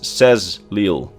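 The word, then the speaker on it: Saxhleel: Think about the word sexil which is usually pron pronounced as says leil. So the h is completely silent and the the x's get pronounced as a z's.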